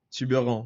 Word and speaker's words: Tubarão: Alors, son prénom, c'est comme ça, mais vous prononcez Tiburon.